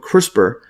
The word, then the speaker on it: CRISPR: all coming together now so crisper Gene editing pronounced quote crisper is a genetic engineering technique by which the